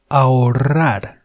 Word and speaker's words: ahorrar: Then we have the verb to save, which is ahorrar. Ahorrar. I know this strong or rolled R is a bit cumbersome to pronounce at the beginning for English native speakers.